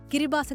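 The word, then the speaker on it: Kiribati: വർഷം പുതുവത്സരത്തെ വരവേൽക്കാൻ പോകുന്നത് കിരിബാത്തി എന്നാണ് എഴുതുന്നത് എങ്കിലും കിരിബാസ് എന്നാണ് ഉച്ചാരണം 33 ദ്വീപുകൾ ചേർന്നതാണ് റിപ്പബ്ലിക്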